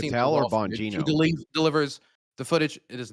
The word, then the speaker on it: Bongino: Then after Do you mean promising the Patel or raw footage, he Bongino?